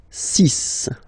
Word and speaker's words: six: And be careful here, because even if it's ending with this X, well, you'll have to pronounce it like S, S, okay? So you get the six pronunciation.